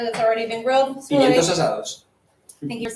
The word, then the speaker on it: Pimientos asados: So Pimientos asados.